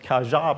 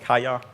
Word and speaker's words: Kaja: In that case, you don't want Kaja, but you would want Kaya.